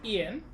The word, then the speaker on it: een: Okay, it is interesting, Lizard, because that word, E-E-N, in Afrikaans is pronounced Ian. It's slightly shorter than Ian, Ian's name, but it's very close.